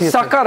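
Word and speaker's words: Sukkur: Sakar not Sakar airport. Sucker airport. Yes. Uh the pronunciation is sucker.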